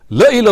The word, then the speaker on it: لَإِلَى: However, the correct pronunciation of the word is وَلَئِمْ مُتْتُمْ أَوْ قُتِلْتُمْ لَإِلَى اللَّهِ تُحْشَرُونَ. La is without an alif, and la without an